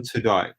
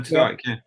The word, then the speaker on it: Tudyk: Alan Tudyk. Tudyk, can I pronounce that right?